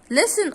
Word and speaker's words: listen: Listen also, you will find the T is silent, okay?